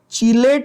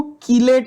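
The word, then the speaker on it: chelate: बहुत लोग इसको कीलेट लाइगेंड भी बोलते हैं, CH को क प्रोनाउंस करते हैं, कीलेशन, कीलेशन बोलते हैं, American call it कीलेशन, we call it चिलेशन, whatever.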